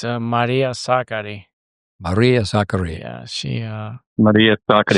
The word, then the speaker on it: Sakkari: Tell us how you really pronounce her name. It's Maria Sakkari.